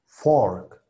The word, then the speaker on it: fork: Se alarga un poquito esa O torpe, OR. Luego tenemos lo que sería la K de kilo, ORC, ORC, ORC. Y la F al principio que nos daría la palabra, ¿no?